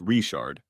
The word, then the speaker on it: Richard: with in Cajun Country Richard is pronounced reard yes do you know